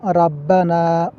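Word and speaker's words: ربنا: আমরা অনেকেই বলি রাব্বানা। রাব্বানা বলা যাবে না। বলতে হবে রব্বানা।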